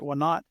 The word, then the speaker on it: Wanat: Wanat? Wanat, yes, sir.